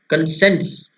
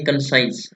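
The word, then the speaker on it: conscience: Clear है, अगला देखते हैं हमारे पास क्या है, कंसेंस। कंसेंस, कई बोलेंगे कंसाइंस, लेकिन इसका गूगल पर प्रोनाउंसिएशन क्या है, कंसेंस।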